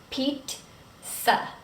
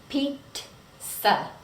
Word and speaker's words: pizza: And a lot of times I hear people say pizza, but it's pizza. Pizza. Sounds like TS.